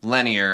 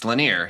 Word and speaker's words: Laneir: Okay, I kept pronouncing him Lenir. I was saying it to you phonetically. It's Laneir.